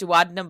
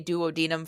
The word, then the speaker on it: duodenum: actually pronounced duodenum, but he had to say duodenum for the Duodenum.